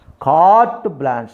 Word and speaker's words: carte blanche: Carte blanche, E is a silent. Blanche, carte blanche. The Phonetic script is carte, R is also silent. Carte blanche, sa is there. E is a silent. Carte blanche means, the meaning of